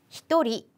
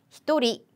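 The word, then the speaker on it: 一人: 해당하는 는 표현이죠 그런데 한 명과 두 명은 여러분 발음을 조금 조심해 주셔야 돼요 닝이 아니라 한 명은 히토리 히토리 두 명은 후다리 후다리 그리고 세 명부터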